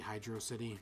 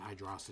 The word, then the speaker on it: Hydrocity: you by the way it's actually hydrocity just it's not hide raza t no that's that's not how English works you feel like I didn't know anyone who called it hydrocity no I know since